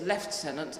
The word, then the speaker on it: lieutenant: Our American friends actually pronounce the word correctly. We have morphed it into lieutenant over the last 100 years.